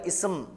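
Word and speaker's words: اسم: இன்னும் மருத்துவரின் பெயர் சையீத் இங்கு பாருங்கள் இஸ் ஆரம்பத்தில் வந்திருக்கிறது அங்கு ஹம்ஸாவை உச்சரியுங்கள் இஸ் என்று கசரா கொடுத்து ஆனால் தபீப் என்கிற வார்த்தைக்கு முன்னால் இசம் அதில் ஹம்ஸாவை உச்சரிக்கக் கூடாது ஏனெனில் அதற்கு முன்னால் வாவ் வந்திருக்கிறது இஸ்முத்தாஜிரி மஹ்மூதுன் வஸ்முத்தீபி சயிதுன்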